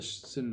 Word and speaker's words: synod: The proposition of the synod by which, this is the Synod of Pistoia, I said on the first syllable synod, but the proposition of